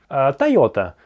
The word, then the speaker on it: Toyota: Тойота. Тойота. Ну, Toyota есть Toyota. У меня Toyota. Они могут не понять. Тойота. Тойота, Тойота. Помнишь? Тойота. Тойота. Здесь два двойных звука подряд. Тойота, Тойота.